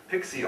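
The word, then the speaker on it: PXE: them from wikipedia so pixie the preboot execution environment pixi also known as pre-execution environment sometimes pronounced pixi is an environment to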